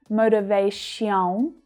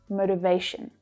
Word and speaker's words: motivation: The vowel sound reduces right down to the schwa, so it's short and low in pitch. It's not motivation, it's motivation.